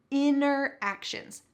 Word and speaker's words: interactions: word real life interactions notice the pronunciation here interactions the tea has been completely cut out real life interactions this